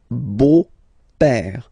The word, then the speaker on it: beau-père: So, père, okay, father, so father-in-law, okay, in French it's le beau-père, the beautiful father, le beau-père. So remember this a, u combination of vowels only give you the sound o, beau, okay, le beau-père.